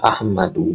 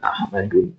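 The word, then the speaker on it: أحمد: Nah, maka jadilah Ahmadu bukan Ahmadun. Baik, maka kalau antum ketemu kata Ahmadu, hanya ada dua cara baca. Ahmadu atau Ahmada. Nggak mungkin Ahmadi. Nggak mungkin juga ada tanwinnya. Ahmadun nggak mungkin. Ahmadin nggak mungkin. Ahmadan nggak mungkin.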